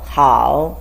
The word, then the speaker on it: 好: The way it's pronounced is 喝熬好 third tone.